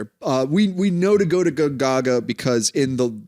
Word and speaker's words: Gonzaga: It's Gonzaga. Yeah, that's how I pronounce it too.